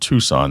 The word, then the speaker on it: Tucson: Tuxon, spelled Tuxon, is on purpose, because when you try to say the word Tucson, that's exactly how it's phonetically, it looks like Tuxon.